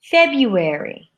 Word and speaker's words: February: this group there are three syllable words changed two-syllable words to review februari februari aspirin aspirin business business chocolate mmm chocolate